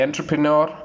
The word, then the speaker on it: entrepreneur: Entrepreneur. We said that entrepreneur. The correct pronunciation for this word will be, it's entrepreneur. Entrepreneur. The right pronunciation is entrepreneur.